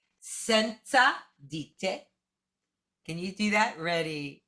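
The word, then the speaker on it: senza: now i said sensa i pronounce that sort of like mozart right it's sort of like it feels like a tsa sensa can you do that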